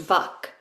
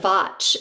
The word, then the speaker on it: Vach: Historically she is if you study the yoga traditions it starts in the rig vda with vach. sometimes pronounced vak but vach is really the root and vach is cognate